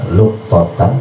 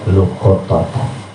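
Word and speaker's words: لقطة: ya oleh man luqatatan, ini boleh dibaca luqatan, boleh dibaca luqatatan ya. Yang utama bacanya luqatatan, luqatah ya.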